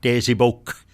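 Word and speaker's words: tesipowk: And each time that we want to pluralize the word desibo, we will simply add a K at the end of that word and say desiboke. Desiboke. With a strong K, that's right.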